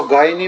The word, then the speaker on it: gyny: 10, इसको गायनी भी बोल देते हैं और इसको जीनी भी बोल देते हैं, ठीक है। अलग अलग प्रोनाउंसिएशन होता है।